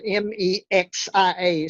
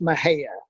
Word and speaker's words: Mexia: town called mahaya uh it's spelled m-e-x-i-a so it looks like mexia but it's pronounced mahaya about seven thousand seven